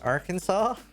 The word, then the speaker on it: Arkansas: Arkansas. By the way, I don't know why it's not pronounced ar Kansas, but it's such a cool name for a state, dude.